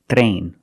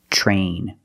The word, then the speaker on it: train: When you have TR together in any situation, you can pronounce it tr, but usually we don't. We pronounce it ch, ch plus the R sound, chr. Example, train, truck, tree, and travel. Remember, when you see TR, make the ch sound plus the R. It will help you pronounce the R correctly, so you don't say train or tri. Use the ch plus the R, the voiced R sound.